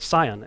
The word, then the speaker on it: Sion: how Mount Hermon was referred to as Mount Sion si o n and so you got this car as cion but it's pronounced the same way and you've got these